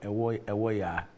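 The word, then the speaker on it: Ewoyaa: So, Ewoya Lithium Project, what's that? Did I pronounce the name well? Ewoya? Yeah. Okay. Yeah, that's okay. Because it's spelled E-W-O-Y-A-A.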